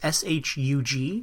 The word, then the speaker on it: Shug: The other guy is, I don't know how to pronounce his name. I'm going to call him Shug Fisher. It's Shug, and he plays Harris, the old drunk guy.